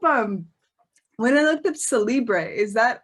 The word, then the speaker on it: Cellibre: when i looked at celibre is that is that how you pronounce it it is you are the first person ever in the history of the earth to pronounce it properly so congratulations you must